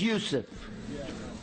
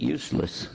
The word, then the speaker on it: Yusuf: My name's Yusuf. Can you say Yusuf? You got it right on the first time. All these years, my wife still pronounces it useless.